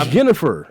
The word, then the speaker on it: Yennefer: Her name is Yennefer.